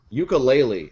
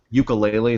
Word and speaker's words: Yooka-Laylee: But Ukulele, it's the spiritual successor to Banjo-Kazooie.